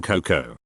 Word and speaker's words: cocoa: That you don't pronounce the A in cocoa.